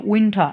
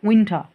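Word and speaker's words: winter: উচ্চারণটা হবে সেটা হচ্ছে উইন্ঠা এটা কখনো আমরা উইন্টার বলবো না সবসময় বলবো উইন্ঠা যেটা শীত এবং সর্বশেষ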